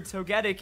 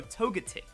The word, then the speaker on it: Togetic: so unnatural for me I just hate it so much to go togetic it you can't go into that hard G into the hard T and in not a